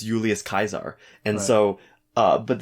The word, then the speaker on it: Julius: think i mentioned kaiser it's not julius it's julius julius yeah because there's no j there's no j's it's an i right it's i you